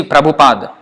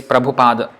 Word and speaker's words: Prabhupada: Haku the earth at the end is not pronounced that's why you you sometimes see prober you see Prabhupada when we say Prabhupada why we say Prabhupada